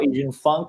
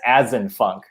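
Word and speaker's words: AZN Funk: came up you know i was like oh engine funk that's kind of funny um and so i just used that but then the problem is a lot of people pronounce it as as in funk yeah you know and that's and that's understandable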